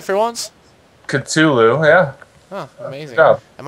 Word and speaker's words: Cthulhu: Cthulhu, yeah.